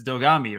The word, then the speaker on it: Dogami: wait first tell us what the heck dog dogami is and and do you want to settle it if I as an American I say dogami but it's dogami right it it it comes from the the